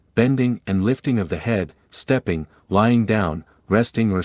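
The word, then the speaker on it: 呵: He, pronounced like her with a yawn, which is associated with the heart.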